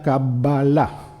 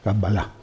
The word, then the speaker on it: Qabbalá: y que hace que la correcta pronunciación de la palabra sea cabala lo estoy exagerando a propósito para que se note bien cala la letra b se pronuncia dos veces es como si se aterrizara en la letra b y luego se despegara otra vez no kabala y se acentúa en la última sílaba kabbala Bueno ya os